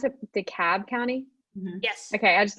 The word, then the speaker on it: DeKalb: than 300 thousand dollars is it did you pronounce it dekalb county yes okay i just i thought i